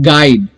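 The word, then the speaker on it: guide: गाइड, जी यू आई, गाय डी, गाइड, E silent है।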